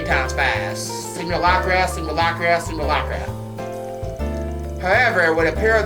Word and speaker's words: simulacra: In particular, they were built to stimulate the underlying concepts behind simulacra. Simulator simulacra. Try saying that 3 times fast. Simulacra, simulacra, simulacra.